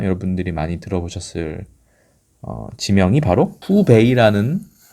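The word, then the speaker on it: 湖北: 이 호북성을 가리켜서 발음이 후베이라고 합니다.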